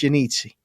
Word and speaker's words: Iannizzi: social media at i-a-n-n-i-z-z-i all right that's pronounced yanitzi and his name is and he's right